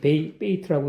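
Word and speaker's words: בית: 레헴은 빵, 떡이란 뜻이고 예, 베드는 베이트라고 읽는데 집, 성전, 제대로 주님의 몸된 교회에서 복음의 말씀은 빵, 떡을 예, 먹으면 예, 깨어있는 사람이고 3일길을 가고 있다 그 말이죠.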